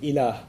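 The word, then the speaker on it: إله: La ilaha illallah, in which there's the term ilah.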